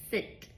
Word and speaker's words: scent: The last example here, scent. Scent is like the smell. What is that scent? Smell. S C E after an S before an E. I don't have a sound for C. Scent. All we have is the S sound.